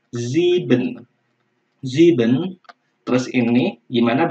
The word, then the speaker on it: sieben: Ya, ingat kalau S-nya di depan kita melafalkannya seperti Z ya, yaitu Sieben.